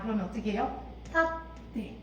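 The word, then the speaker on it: 立って: 탓대 이렇게. 자, 초음이니까 한 박 충분히 해줘야 됩니다.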